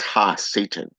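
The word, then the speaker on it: הַשָּׂטָן: outcast okay okay and hebrew his name is pronounced ha satan okay so you can see where he has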